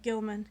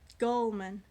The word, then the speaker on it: Gulman: And that man is Gary, I almost said Gilman. Gary Gulman. Gulman.